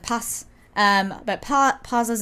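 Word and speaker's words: Paz: You should know how to pronounce I know how to pronounce your name. Like pass.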